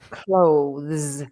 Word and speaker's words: clothes: you have to and the O is often a problem as well because some people want to say cloth cloth but it's not